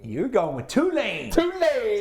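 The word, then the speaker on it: Tulane: going with two lane two lane that's how they say it down there two lane two lane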